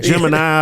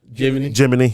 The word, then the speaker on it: Jiminy: to play the game Gemini I think but but but it's pronounced Jim jimy yeah yeah yeah so it's